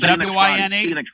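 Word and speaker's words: Wein: W-I-N-E. Is that W-I-N-E? W-E-I-N, but it's spelled, but they pronounce it Wine.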